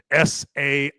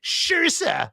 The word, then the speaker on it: Saoirse: You look at her first name, it's Sairose. So you're like, say Rose? No, it's Shirsa. Where the hell did you get Shirsa from that?